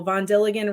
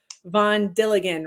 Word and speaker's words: Von Dilligan: I always tell people Von Dilligan rhymes with Gilligan. So that's the easy way to remember. Von Dilligan rhymes with Gilligan.